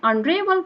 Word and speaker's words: honorable: Honorable, H is silent. Honorable. This is the correct pronunciation of honorable, not honorable.